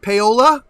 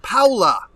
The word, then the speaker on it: Paula: Hey, is it pronounced Paola? No, No? Paula. Paula.